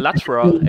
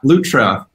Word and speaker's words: Lutra: So I thought Lutra is Latra. Actually, I always spelled it Latra, but that seems to be off, right? You spelled it Latra? Yeah, I thought so. Oh, interesting. Yeah, Lutra.